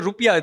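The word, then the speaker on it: rupiah: Indonesia correct uh it's National currency is the rupia they in fact have the correct pronunciation not our rupe is actually the wrong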